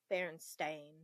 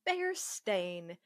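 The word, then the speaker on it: Berenstain: Oh my god, it it is Baron Stain. What? It is Baron Stain, which I'm still upset about and I will always be. Then why didn't we pronounce it Bear Stain?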